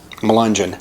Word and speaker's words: Melungeon: It wasn't a town name, but Ann Wagner asked to pronounce this word, and it is Melungeon.